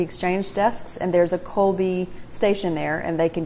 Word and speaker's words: Kolbi: For a prepaid card, I recommend Colby, which is spelled Kolbi.